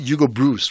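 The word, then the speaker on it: Broos: All I can tell you now, if was it Hugo Bruce, right?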